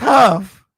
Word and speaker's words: Hough: let me find out we're pronouncing her name and wrong the whole time okay it's huff okay my mama guru